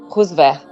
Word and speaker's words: Rusvéer: falei certinho falou fal não que tem uma pronúncia aberta que você falou né como é rosver gente é chique demais né olha que coisa